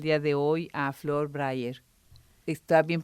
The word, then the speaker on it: Braier: de recibir el día de hoy a Flor Bryer. ¿Está bien pronunciado tu apellido?